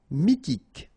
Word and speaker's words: Mythique: Remember, Q-U at the end, K, okay, and then Y is pronounced like I. Mi, H is not pronounced. T, K. Mythique.